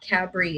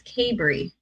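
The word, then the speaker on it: Cabri: in the comments saying it's not cadbury it's cabery okay bree okay perfect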